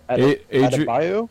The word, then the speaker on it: Adebayo: Adebayo?